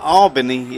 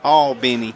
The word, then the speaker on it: Albany: Oh, yeah, it's not Albany, it's Albany.